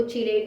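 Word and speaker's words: chelate: हम बात करते हैं कीलेट कंपाउंड्स की। कुछ इनको कीलेट बोलते हैं, कुछ इनको चीलेट बोलते हैं, तो वो आप अपनी जो भी आप प्रोनाउंस करते हैं वो आपके ऊपर डिपेंड करता है।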